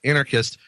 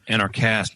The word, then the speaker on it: Anarchast: He also founded what is arguably the world's most popular anarcho-capitalist podcast, Anarchist, in 2012. Anarchast, dude. Say it right.